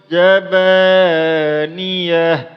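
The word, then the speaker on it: زبانية: Cara bacanya ialah sanad'u zabaniyah, sanad'u zabaniyah. Niyah jangan dipanjangkan. Jangan zabaniyah. Tidak boleh. Karena apa? Karena di sini tidak ada alif tiga. Maka berarti hanya cukup dibaca pendek saja. Sanad'u zabaniyah.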